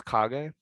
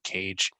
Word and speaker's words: Kage: like cage i think it's kage that's outside oh really i've always done cage i remember i think i said it somewhere maybe my video or his video and he was like finally someone said it right okay well thank god